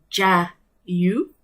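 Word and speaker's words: 자유: another language okay so freedom in korea is jai you so you see the pronunciation of the word ja you and when you say joy you see so it's it's almost the same so that's the reason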